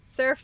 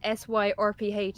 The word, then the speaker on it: Surf: Surf just said, Team and Radical keep picking on him because the bots won't say it right. All right. Because what the bots keep saying is SYRPH instead of surf.